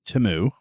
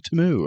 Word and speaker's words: Temu: First of all, it's pronounced Temu. No, it's not. Yes, actually it is. I saw a commercial for it the other day, and it was like, order on Temu.